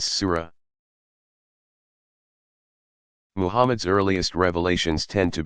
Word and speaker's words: surah: New Testament arranged in 114 sections called Suez pronounce Sura Mohamed's earliest revelations tend to be short rhetorically